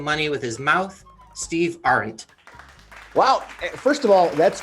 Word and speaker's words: Ahrendt: with his mouth steve art wow first of all that's cool on many levels because you pronounce my last name right i was nervous about